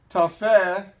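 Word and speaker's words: Tophet: verse of chapter 30 for Tafe that's what you pronounce it in Hebrew is ordained of all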